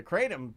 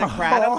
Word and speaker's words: kratom: Oh, is it kratom? Have we been saying it wrong? It's kratom?